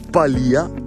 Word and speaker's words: Palìa: accenti e tante robe va con l'accento e mi dice che questo qua è Bivacco Palia anche se è scritto